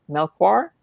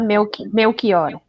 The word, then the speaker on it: Melchior: Elba, and Danielle I don't know how to pronounce her. Melchior, I want to say. She's Portuguese. Daniela Melchior.